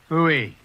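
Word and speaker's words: Pfui: Fooey. It can be spelled in several ways. I spell it P-F-U-I.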